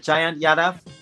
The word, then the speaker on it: Jayant Yadav: Is it Jayant Yadav? Correct? Yes, you got that spot on. Pronunciation.